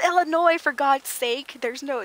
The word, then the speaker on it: Illinois: So my other coworker would always say, Illinois. And Barb would go, it's Illinois, for God's sake. There's no, the S is silent.